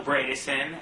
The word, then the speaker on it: Bredesen: How do you pronounce his name? Phil Bredesen.